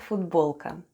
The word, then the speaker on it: футболка: Let's spell the word футболка. The first sound is F, then goes U, T, then we have B, O, L, K, and A at the end. And altogether it's футболка.